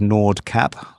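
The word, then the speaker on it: Nordkapp: But the Norwegian pronunciation is Nord Cab, right?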